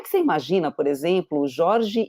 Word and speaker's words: Jorge: Bom, é, no espanhol, o nome do meu filho é Jorge. No Jorge, português, no português falaram que se pronuncia Jorge.